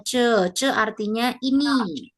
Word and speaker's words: 这: Ini bacanya ce.